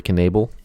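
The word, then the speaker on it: Knebel: um guys like jimmy ness nelson uh corey knable that's how you say it quark naval um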